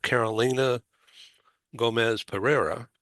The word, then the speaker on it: Carolina Gomez Pereira: I'm very happy to have Carolina Gomez Pereira.